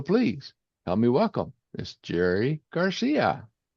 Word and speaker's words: Gerry Garcia: So, please help me welcome Miss Jerry Garcia.